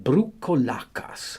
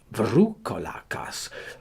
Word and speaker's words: Vroucolacas: They call them Vroucolacas, or Vroucolacas, according as they pronounce the second letter of the alphabet.